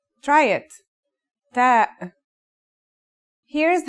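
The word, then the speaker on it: ت: The pronunciation is like the English T, except you should release your breath with a strong burst of air. Try it. Ta.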